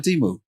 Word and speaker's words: Temu: Speaking of marking down prices, man, I did not know I was mispronouncing Temu this whole time. Neither did I. Temu. English mispronounce everything, you know. Well, they should have told us. Yeah, we were just out here assuming because they didn't let us know. They should have put it in parentheses. T-E-M, Tim.